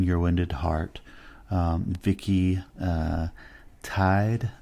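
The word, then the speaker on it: Tiede: Wounded Heart Vicki uh tied I believe is how you say her last name t-i-e-d-e is the author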